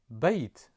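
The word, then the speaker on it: بيت: and the final letter is the letter t pronounce it bait and bait in Arabic means house bait bait bait now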